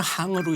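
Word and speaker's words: 行: 그 행이 원래는 항으로 읽어야 됩니다.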